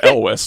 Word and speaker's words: Elwes: But also, as we found out, it's pronounced Elwes too.